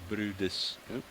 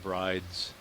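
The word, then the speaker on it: Bryde: The pronunciation of that whale as Brudis rather than Brides from the spelling B-R-Y-D-E.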